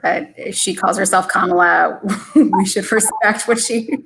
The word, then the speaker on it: Kamala: out, it should be Kamala, as in the punctuation mark. Deepa, any insights into this? I think she has weighed in on this before, but if she calls herself Kamala, we should respect what